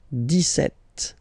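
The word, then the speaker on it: dix-sept: it's clear but then for the pronunciation deset okay so you don't insist on the s det Det okay then.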